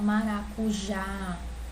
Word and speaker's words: maracujá: Se eu pronunciar maracujá, o A eu sei que ele é mais forte, certo? O já é mais forte, né? A última sílaba aqui é mais forte. Então eu sei que essa é uma palavra oxítona.